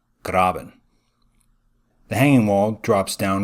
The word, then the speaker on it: Graben: faults on either side the word grab in itself is german for ditch so if you really want to play the part you can pronounce it graben the hanging wall drops